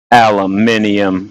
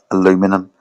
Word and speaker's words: aluminium: spell it slightly differently when you say aluminum I don't think the word is actually spelled the same I'll double check but I think it's actually spelled different in the first place aluminium aluminium that's it